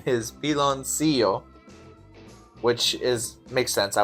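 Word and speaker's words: piloncillo: The pronunciation is pilon seio, which is makes sense.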